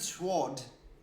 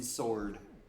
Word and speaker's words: sword: surely then must H it is kind of weird that English doesn't pronounce the the W in sword at it's not like we don't make that sound like we have words like swell I think I'm starting